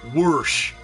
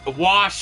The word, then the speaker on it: wash: Some people will say wash. My mother says it that way. And some people go whoosh. But wash is the correct way to pronounce it.